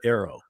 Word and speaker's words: AARO: And if it does, I don't mind that, because at least you can pronounce it. You can call it Arrow. You can say this is the Arrow task force.